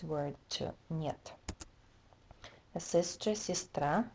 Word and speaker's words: сестра: A sister, сестра, again the stress is on a, this is и, это и, у меня есть сестра.